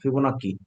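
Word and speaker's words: Fibonacci: ফিবোনাক্কি একজন বিজ্ঞানীর নাম, গণিতবিদের নাম, ডাবল সি উচ্চারণ ক, ফিবোনাক্কি।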